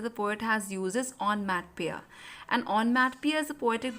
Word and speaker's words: onomatopoeia: Students, the correct pronunciation is onomatopoeia only. Don't pronounce it onomatopoeia.